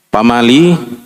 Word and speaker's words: pamali: Ya, mungkin di sebagian suku ada yang membacanya dengan pamali, ya, atau pemali, ada juga yang pemali atau pemali. Ya, ada juga saya lihat ya membacanya dengan pali.